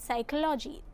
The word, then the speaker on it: psychology: In the word psychology, the letter P is silent.